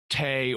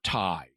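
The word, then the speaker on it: Tey: Her name is Tay or Tai, depending on how you want to pronounce it.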